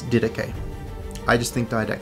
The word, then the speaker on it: Didache: The correct pronunciation, or the most accepted English pronunciation of this book, is Didache. This is good, this is correct, and you can use this term. The other general pronunciation in the English language is Didakia, which is closer to the original pronunciation.